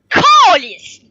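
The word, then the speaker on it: câlice: Si on ajoute un accent au A, un accent circonflexe au A, ça fait calice. C'est prononcé autrement.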